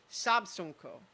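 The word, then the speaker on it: Siabsungkoh: uh known as uh so the the spelling is is uh s-i-a-b-s-u-n-g-k-o-h in the pronunciation guide in the book handily pronoun provided is sabsenko and that location amid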